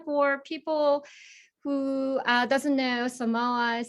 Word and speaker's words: Samoas: Pilyoung's fun fact is that she enjoys scuba diving, and her favorite flavor of Girl Scout cookies is Samoas. Geez, I said it wrong, Samoas.